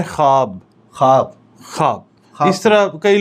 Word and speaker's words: ख्वाब: होता ख्वाब होता है यह लिखा तो ख्वाब जाता है मगर वह जो है उसकी आवाज नहीं होती उसके साथ नहीं होते उसकी आवाज नहीं निकालनी साइलेंट करना है इसको पढ़ना है ख्वाब ख्वाब ख्वाब इस तरह